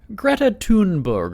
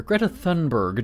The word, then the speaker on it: Greta Thunberg: And so this week, um, Greta Tunberg or Greta Thunberg, depending on how you say it, she's every I think people just know her even also as Greta.